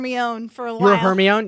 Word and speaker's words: Hermione: didn't pronounce it Hermione I remember how I pronounce it but I mean but that was a surprise for me own her me own yes yeah I think I don't know what